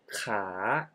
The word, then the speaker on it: ค้า: ลูก ค้า ขา ประจำ Oh you pronounce ค้า Which means to Trade with the high Tone ขา ขา and ขา Meaning Leg With The Rising Tone ขา ขา Well You can hear that คา and ขา can pronounce similarly but They Have different tones That indicate different meanings So Be careful This